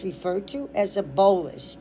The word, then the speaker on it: bolus: When the when the swallow food drops into your stomach, comma, it's referred to as a bolus.